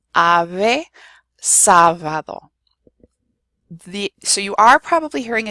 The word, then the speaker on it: sábado: And then I also have ave and sábado. So there you have the B and the V both in similar positions, and they're both pronounced the same. Ave, sábado.